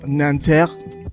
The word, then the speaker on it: Nanterre: I believe the pronunciation is Nanterre. Anybody who's French, let me know down in the comments below.